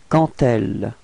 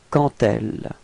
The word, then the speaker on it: quand elle: Okay, so let's see where the liaison goes, and it goes between quand and elle. Okay, and here the D would be pronounced a bit more like a T. Okay, quand elle, quand elle.